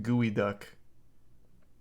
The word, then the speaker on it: geoduck: don't know they're called geoducks I thought their name started with a V these are the the penis things it's pronounced gooey duck oh I used to